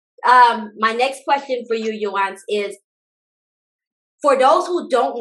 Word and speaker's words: Yohance: Other than my mother, nobody calls me Yohance. So that's really the way to say it.